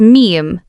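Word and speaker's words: 미음: The fifth one is miem. Miem sounds similar to the English M.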